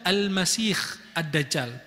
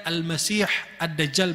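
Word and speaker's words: المسيح الدجال: Ada yang membacanya Al-Masih Ad-Dajjal, pakai kha bukan ha. Dan itu wallahu a'lam tidak benar. Kenapa? Karena semua dalil sahih dari Nabi, hadisnya menamakan dia Al-Masih Ad-Dajjal pakai ha bukan kha.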